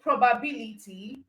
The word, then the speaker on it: probability: And then for probability, the stress is on bill.